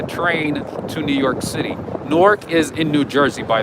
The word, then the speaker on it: Newark: i don't blame you when i when i came here i was like newark and they were like what no it's newark and then new york